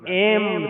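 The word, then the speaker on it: ऐं: देखो आजकल उच्चारण में कई भिन्नता ले, कई एंग बोल रहे, एंग नहीं है, मैं एम ह्रीम क्लीम चामुंडाय।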